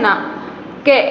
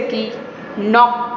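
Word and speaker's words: knock: Okay, जैसे कि नॉक. इसको हम रीड क्नॉक नहीं करेंगे, ये साउंड रॉन्ग हो जाएगा. क्नॉक ऐसा साउंड नहीं है, ये इसमें के है वो साइलेंट है.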